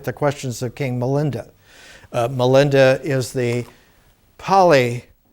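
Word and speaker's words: Milinda: we'll look at the questions of king melinda melinda is the poly pronunciation poly is an indo-european language very much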